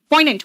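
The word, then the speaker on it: poignant: Next आओ, पॉइनेंट बेटा, इसमें जी साइलेंट होता है। पॉइनेंट, पॉइनेंट का मतलब क्या होता है बताओ?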